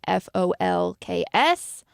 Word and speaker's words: folks: people are saying that they do pronounce the L Jackie s disagrees and said that she definitely does not pronounce the L in f-o-l-k-s KK says yes Chris